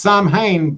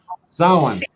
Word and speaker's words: Samhain: You know, not pronounced Samhain, bitches. Samhain.